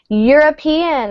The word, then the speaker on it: European: information so no article European it's spelled with a vowel but we pronounce it with a y sound which is a consonant so a very good